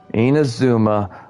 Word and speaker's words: Inazuma: Inazuma. I gotta try to remember that's how that's pronounced, because I'll forget later.